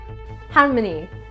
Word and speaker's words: Halmoni: Harmony, pronounced like harmony, melody.